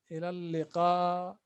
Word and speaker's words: إلى اللقاء: See you, you say إلى اللقاء. إلى اللقاء. إلى اللقاء. إلى اللقاء means see you. إلى اللقاء. إلى اللقاء. This is a long vowel. قاء. So you say إلى اللقاء.